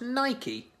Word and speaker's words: Nike: Because apparently it's pronounced Nike.